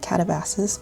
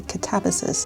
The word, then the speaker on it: Katabasis: I didn't realise, but the entire time I've been talking about this book, I've been calling it Katabasis, but the correct pronunciation is actually Katabasis.